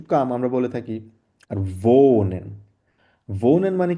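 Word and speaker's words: wohnen: আমরা বলে থাকি আর ভোনেন ভোনেন মানে কি ডব্লিউ কে আমরা কি উচ্চারণ করি ভ উচ্চারণ করি তার মানে ভোনেন মানে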